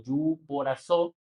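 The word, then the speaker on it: ὑποτάσσω: Es una palabra griega que se traduce como, bueno, se pronuncia como yuporazó, que significa someterse o ponerse bajo el rango de alguien superior.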